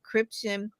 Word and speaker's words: Cryptian: So Cryptian, um, am I pronouncing it right? You are saying it right.